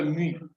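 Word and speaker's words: μ: la population la moyenne est appelée u U ou mu on prononce en mu c'est u on fait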